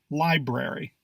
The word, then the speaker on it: library: it at least once we tend to think that the first R in this word is silent but no it's just as loud as the one after it pronunciation proper pronunciation is